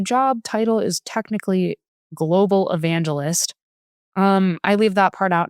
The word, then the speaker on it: evangelist: in with my job title is technically global evangelist. I leave that part out now. I say I work in technical marketing. Global evangelicist.